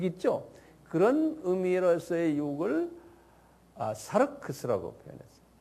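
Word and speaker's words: σάρξ: 사르크스라는 단어를 써요. 사르크스 이렇게 하는 발음 나는 대로 쓰세요.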